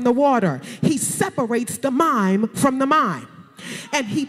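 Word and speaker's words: מים: water, and it's called mime. It's really spelled with an apostrophe, so it's mayim, but we call it, they pronounce it mime. All right, so here it is. God is over the mime.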